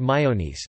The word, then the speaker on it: maionese: potato salad, carrot salad, called mayonnaise, due to the widespread use of both industrial and homemade mayonnaise, which can include egg whites, raw onion, green peas, sweet corn or even chayote squashes, and pronounced almost exactly as in English and French and in other special occasions.